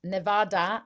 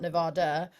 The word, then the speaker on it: Nevada: hot in the world pronounced Nevada and not Nevada and also good one